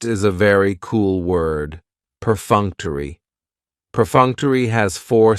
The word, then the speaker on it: perfunctory: the schah and it's going to end with that long e sound perfunctory perfunctory if something is